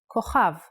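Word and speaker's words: כוכב: Without the dot, it sounds like ch, chaf. A good example is the word kochav, kochav, which means a star. K, o, cha, v, kochav. And in print version, kochav.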